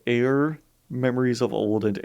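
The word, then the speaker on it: Aer: so it was called air memories of old and air is spelled a-e-r just you know had to be a little weird like that so give it up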